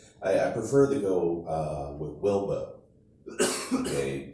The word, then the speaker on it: Wilbo: prefer to go with Wilbo. Okay, W-I-L-B-O, just like Jimbo in Texas on Wilbo. Kind of rhymes with dildo, right?